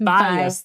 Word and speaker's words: Byous: Byous. There you go. Yeah. Byous. The O is silent and gets everybody.